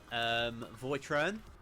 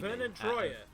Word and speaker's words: Vernon Troyer: Voitron. He's trying to say Vernon Troyer. How do you say his surname? Or something like that. He's mini. Vernon Troyer.